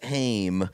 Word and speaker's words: Haim: And I say, I swear to God, if we're late for Heim. Yes, and the person behind us was like, actually, it's pronounced Haim.